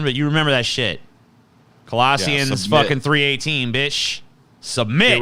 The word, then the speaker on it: Colossians: So let's start with, how do you say this, Colossians? Or Colossians? It's Colossians. You had it.